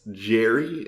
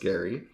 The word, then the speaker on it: Gerry: name is spelled g-e-r-r-y so he was often pronounced jerry instead of gary but it's actually pronounced gary and that is where the word gerrymandering comes